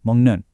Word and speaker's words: 먹는: Also, in a word like mongnun, the K sound at the end of mug actually softens into an ng sound before that next consonant. So, it sounds more like mnun.